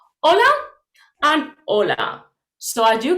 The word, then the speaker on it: hola: different words okay but the pronunciation of these two words is exactly the same hola and hola so as